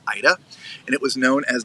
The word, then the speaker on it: AIDA: Was originally owned and operated by AIDA, A-I-D-A. I believe it's pronounced Ida, and it was known as the Ida Vida.